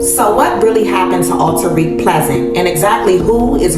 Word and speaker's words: Alteriq: So y'all, again, and correct me if I'm pronouncing your son's name wrong. Is it Alteriq? Alteriq.